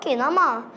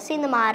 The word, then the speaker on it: cinema: Is this cinema or kinema? You pronounce it cinema, right?